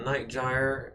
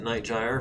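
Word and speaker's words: Night Gyr: uh, three Thors, a night gy, and a vulture. Uh, and I am going to I think try to pronounce it night jire from now on because the subtitles I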